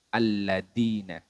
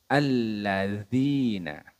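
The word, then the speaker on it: الذين: Nah, kesalahan yang sering terjadi itu alladina. Harusnya alladzina. Nah, dari sisi makhraj ini berbeda teman-teman. Dari tempat keluarnya huruf dzal ini, letaknya yaitu ujung lidah bertemu dengan ujung gigi seri bagian atas.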